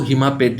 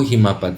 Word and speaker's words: हिमापत: आप इसको हिमापेट भी प्रोनाउंस कर सकते हैं बट इसका एक्चुअल प्रोनाउंसिएशन जो मेरे हिसाब से सही है वो हिमापत है।